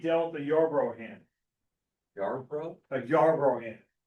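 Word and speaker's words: Yarborough: Yar bro. A yar bro hand. Spell that.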